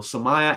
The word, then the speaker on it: Somaya: Somaya. Somaya. Somaya as in papaya.